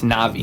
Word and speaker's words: Na'vi: It's Na'vi. Na'vi. That's what it is. Na'vi.